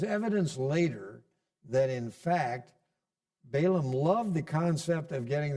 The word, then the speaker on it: Balaam: name, a famous name, Balaam. That's how we say it, but as I said, it probably should be pronounced more like Balaam.